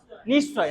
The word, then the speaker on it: নিশ্চয়: ওটা কিন্তু দন্তস্বর মতো উচ্চারণ হচ্ছে না, নিশ্চয় বলছে না কিন্তু, নিশ্চয়, নিশ্চয়, তাই না?